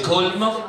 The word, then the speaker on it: Colmar: Colmar au centre, prononcé Colmar, et puis Mulhouse au sud, prononcé Mulhouse.